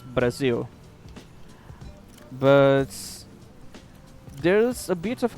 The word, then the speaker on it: Brazil: Basically uh Brazil is the name. We just don't use the soft R that English has. So it's Brazil.